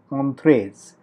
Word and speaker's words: Entrez: So this interface that you can see here is referred to as the interface of entrees, or ENTREZ. Entrees or entrees, if you can pronounce it in either way, is actually a search engine.